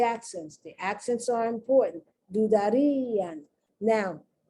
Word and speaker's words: dudarían: Dudarían. Now, the reason you have the accent is to tell you that that I is pronounced like a strong I, E.